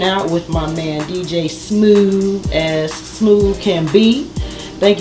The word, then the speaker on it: Smoove: Smoove, like groove.